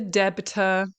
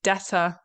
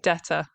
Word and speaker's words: debtor: They're saying the debtor, okay, which again, just like debt, it's quite difficult to say. We don't pronounce the B, we say debtor instead, debtor.